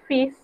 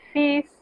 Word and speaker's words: fils: Es una excepción a las reglas de la pronunciación, porque el sonido que aquí vamos a evitar es el sonido de la L. Y en lugar de eso vamos a pronunciar la S. Eso generalmente no se hace, pero con esta palabra es de esa manera, es una excepción.